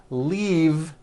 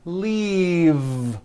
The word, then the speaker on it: leave: glove alive and leave this last word leave is very different from the word Leaf like from a tree which has an unvoiced F the word is leave with a voiced V